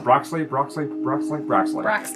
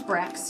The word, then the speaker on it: Broxley: Or Broxley? I think it's Brax. No, it's Broxley. Broxley. I said it right the first time. Why did I question myself? It's Broxley de Galanda.